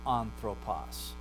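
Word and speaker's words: ἄνθρωπος: And if it's smooth breathing, right, it's anthropos. There's no H sound.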